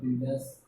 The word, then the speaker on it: builders: So first, B-U-I is silent. Oh, sorry, U is silent. That's why I am underlining below U. Double underline. B-I. I pronounce B and I. B. U is not pronounced here, but it is there in the spelling. Bill. D-E. D. Or R. D-E-R. Dirt. Sir. Bill. Dirt. Sir. Builders. Now U is silent here.